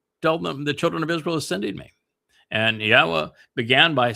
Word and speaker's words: Yahweh: I systematically prove, irrefutably, that the proper pronunciation of Yod He Wah He is as Yahweh.